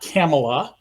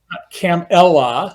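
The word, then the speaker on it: Kamala: her name which Trump and JD Vance keep mispronouncing perhaps intentionally la la there's a button with a comma and La it's not camela no cam Ella I got it right right I mean she's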